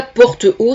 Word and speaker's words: Portehault: Donc Nadia Portehaut, ça s'écrit Portehault. Voilà.